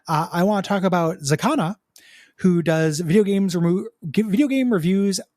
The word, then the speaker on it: Xicana: If you're looking to find this, well, there will be a link, obviously, but also for remembering it later, Zakana is spelled XICANA.